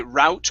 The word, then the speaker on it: route: Yeah, so we can say route or root. So either one is okay.